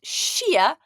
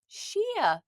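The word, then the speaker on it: sia: How do we say the number 6 in Gaelic? Is it Nioni, 0? Is it Jech, 10? Or is it Shia, 6? Nioni, 0. Jech, 10. Or Shia? Have a guess. Sjoerd, kunnen we snel flikkers en draas de heen? Oh, let me have a wee look here. Kiet amach a kiet. 100% kiers. 6 in Gaelic is Shia. Shia.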